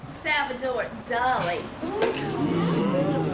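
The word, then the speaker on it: Salvador Dalí: doy um B I mean Mr Elliot that's pronounced avador Dolly it's probably signed check it out boo that's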